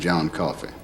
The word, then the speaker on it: Coffey: Your name is John Coffey. Yes sir, boss. Like to drink, only not spelled the same.